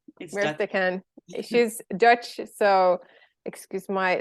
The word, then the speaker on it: Mirte Kaan: Oh, yeah, Mirte Kaan. Mirte Kaan. She's Dutch, so excuse my lousy pronunciation.